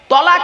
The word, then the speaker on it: তালাক: তো চলুন শব্দটা কিন্তু তালাক বলবেন না তলা আচ্ছা চলুন দেখি বানানটা কি উচ্চারণটা কি মানেটা কি ওর আরবিতে উচ্চারণ হল আরবি বানান হল তলাক বাংলা উচ্চারণ হল তলাক মানে পৃথক দেওয়া ছেড়ে